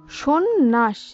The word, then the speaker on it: সন্ন্যাস: এই হিসাবে এরপর সন্ন্যাস, সন্ন্যাস শব্দের সঠিক উচ্চারণ হবে সন্ন্যাস।